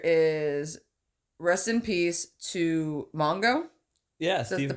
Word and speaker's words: Mongo: So the first thing you have here is rest in peace to Mongo. Yeah, That's the correct pronunciation.